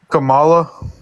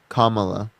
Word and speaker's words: Kamala: you believe Biden is the best president no Kamala Kamala okay how do you say again if you